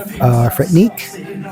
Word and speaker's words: Threatnique: He's called Threatnique, spelled with TH, like Threat, in Technique.